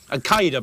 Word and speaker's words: Al-Qaeda: Al-Qaeda, by the way, is the correct pronunciation.